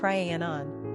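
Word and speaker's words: Rhiannon: modern version of the Welsh female name ranan pronounced Ranon derived from an old Celtic name Rona meaning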